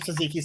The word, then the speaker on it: tzatziki: Tzatziki is like what goes on gyros. Is that how that's pronounced?